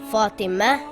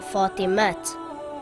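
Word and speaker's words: فاطمة: reads and not or this word says fatima and not fortimat we pronounce both words with a hair at the end but if the word with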